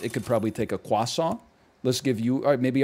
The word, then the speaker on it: croissant: Why do you say croissant like that? Because that's how it's pronounced in Paris.